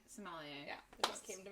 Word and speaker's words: sommelier: in Ann Arbor, and we just did the Salame. Oh, yeah. Like the wine expert. Yeah. It was, I'm probably not pronouncing that correctly, but I know what it is. Sommelier. Sommelier.